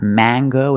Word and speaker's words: mango: and this word is mango mango use the long a it's not mango and it's not in English it is mango with this word we pronounce the hard G sound so it's mango mango would you like to